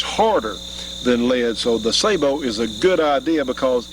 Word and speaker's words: sabot: This is called a sabot, and a lot of people call them sabots. I think the actual French pronunciation was sabot.